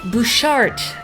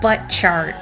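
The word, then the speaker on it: Butchart: a visit to the bouchard gardens is how it's pronounced but when you look at the word it looks like a butt chart and we were both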